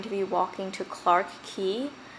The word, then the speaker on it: Quay: be walking to Clarks key it's spelled qu a Y but I realized that it's not Quay its key so that's something I learned I would say this